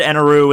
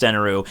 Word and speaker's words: Enel: I mean, it's said Eneroo in the Funimation thing, and that was just all screwed up, and it's pronounced Enel, but whatever.